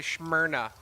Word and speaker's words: Smyrna: maverick from smyrna delaware i was told i have to say smyrna in that uh pronunciation i don't know y'all